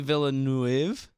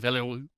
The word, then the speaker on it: Villeneuve: There's not like Denis Villeneuve. There's no A at the end. Okay. It's an E at the end, right? Right. Villeneuve.